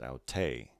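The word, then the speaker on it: αὐτή: the acute accent the feminine form then is pronounced au tay lastly the neuter form begins the same way with an omicron at the end au taw al tos au tay auta next we have a new letter this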